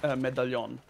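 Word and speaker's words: medaljon: Oh, so soft J, right? It would be pronounced medallion. Oh, okay. And I presume that's got to be that way to fit in with the conventions of the language. Yeah, the L and the J are yeah. Okay. When you combine an L and a J, it's pronounced as ye.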